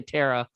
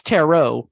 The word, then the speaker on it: tarot: Is that how you pronounce it necessarily? Because I always say Tara. I think that's how most people like accidentally pronounce it. And it's tarot, right? Not Tara. Cards. Well, what's interesting is there's no official correct pronunciation.